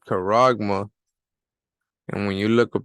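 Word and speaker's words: χάραγμα: the strong coordinates is G 5480 and it's pronounced coragma all right karagma and when you look up the definition right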